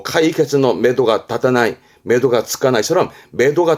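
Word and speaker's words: 目処: 첫자 우리말을 그렇습니다 마는 그러면 눈이 가는 곳이잖아요 발음은 매도합니다 매도 매도하는 건 눈이 가는 곳이니까 목표 목표나 목적 보통은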